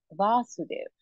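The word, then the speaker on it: Vasudeva: we have said that Krishna here is being referred to as vasudev with the accent on the first um vowel a and whereas all um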